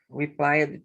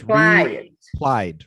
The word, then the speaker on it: replied: she replied to him replied to him not played it's just it's two syllables replied replied replied there you go she